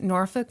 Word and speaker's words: Norfolk: Okay, there's Norfolk, Virginia. The L is silent.